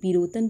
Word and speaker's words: Pirotan: पिरोटन की मैं स्पेलिंग बोल रही हूँ, PIROTAN, पिरोटन बोलिए या इंग्लिश में पिरोटन, PIROTAN, पिरोटन आइलैंड कहाँ पे, कच्छ